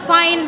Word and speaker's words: find: Not find bike. no. but find. Find. Find is bike, Bike, but find. find. So make sure that you also pronounce the d sound at the end of the word.